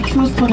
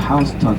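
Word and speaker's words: Houston: 신호동 말고 다음 신호입니다 그래서 스펠링 대로 읽으면 휴스턴이 읽는게 맞아요 어 미중부 지역에 이제 휴스턴이 하는 지방이 있죠네 뉴욕에 사는 사람들 저가 일명 뉴욕커 부릅니다 뉴욕커들은 우리는 요이 휴스턴이 예 이 뉴욕커들은 똑같이 어 부르고 싶지 않다라고 같은 스펠링 있데 하우스턴이라고 해 거야요 하우스턴 예 택시타서 휴스턴 스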